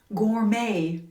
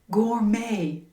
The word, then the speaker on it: gourmet: Gourmet. Gourmet. Gourmet. Notice how the t is silent. This is a French word, but we've taken it in English.